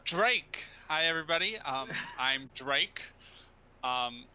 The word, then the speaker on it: Drake: my up, his name rhymes with lake. It's Drake.